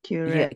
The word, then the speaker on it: curette: Curette. Yeah, curette. Yes, we say curette. This is pronunciation, of course.